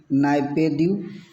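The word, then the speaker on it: Naypyidaw: और म्यांमार की जो कैपिटल है नेपिड्यू। गाइस इसका प्रोनाउंसिएशन कुछ ऐसे ही होता है, ये लिखा हुआ है, आप इसको पढ़ सकते हैं नाइपेद्यू। आई होप कि आप बिल्कुल पढ़ पा रहे होंगे नाइपेद्यू।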